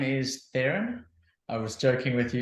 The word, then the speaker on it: Theran: how to pronounce it I often say to people if if when you see me you think either you need therapy or ironing therapy that's the way to remember you pronounce it Erin so you take the